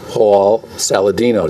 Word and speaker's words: Hall-Saladino: And we have with us the new executive director, Samantha Hall-Saladino.